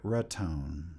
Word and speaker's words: Raton: Uh, no, you are pronouncing it Raton.